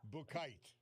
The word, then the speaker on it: Buchheit: So it's Buchheit, but in German, that CH is a K. It's a K sounding. Okay. So there you go. Yeah. Bukite.